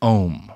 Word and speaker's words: OM: They're pronouncing it Om, like, you know, the Om, right, the meditative, you know, chant thing.